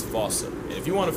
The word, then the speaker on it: fossa: game of telephone has Americans saying while England pronounces it as Fossa. So if your point of reference is the movie, it's Fossa. If it's Sir Attenborough or the Wild Thornberrys, it's Fossa.